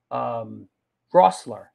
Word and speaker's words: Rossler: After that, Paul Russler will be on the show. I don't want to pronounce this dude's name wrong again and be like a heel. Rossler. Yeah, I got it right.